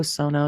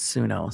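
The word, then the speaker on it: Suno: Yeah, if Pro Sono you take responsibility for copyright I'm saying it wrong. It's sunno. Sorry guys.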